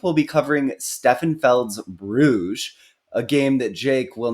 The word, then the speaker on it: Bruges: It may be pronounced Bruges, but it looks like Bruges. Yes, Bruges.